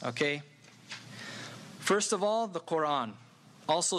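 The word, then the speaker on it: Qur'an: the word not simply Quran but quote on there's a little stop in it thought on so Islam's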